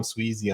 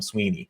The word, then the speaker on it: Sweezy: I say my name name is Sweezy on every single episode of the MLS Aces podcast and you introduce me on your podcast as Sweeney like there's just different